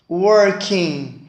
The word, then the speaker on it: working: muito importante entender que não se leu g porque o gelo inglesa ele é mudo e quando você não tem o som então não pronuncia o som do g8 então ficaria e amor